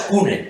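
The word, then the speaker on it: CVNE: Cuando las bodegas Cune, que fueron las pioneras de... Que era V, pero no saben pronunciarlo.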